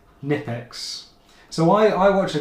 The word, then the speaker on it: Knipex: This one like I said is the uh oh blue light turner drop the K nipex.